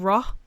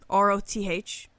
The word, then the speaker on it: Roth: In one tale, a man named Roth, R-O-T-H, Roth, was slain. Like Tyson pronouncing Ross from Friends. What? Roth, because he always like TH.